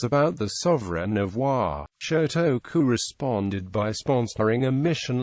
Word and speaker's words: Shōtoku: after him, such as Shotoku Gakuen University and its associated junior college. The first syllable of his name can be read Sho in Gon and can also be read Sei in Kanon.